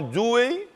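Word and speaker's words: Dewey: é os americanos já john doe não é se escreve dw é y não é outro falando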